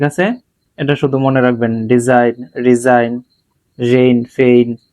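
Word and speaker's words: design: এটা শুধু মনে রাখবেন ডিজাইন রিজাইন rain ফেইন সাইন align এখন আপনাদের কাজ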